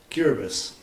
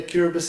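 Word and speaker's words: Kiribati: my five diplomatic postings does anyone know where cbus is it it's spelled cbati if when you see it um written and it used to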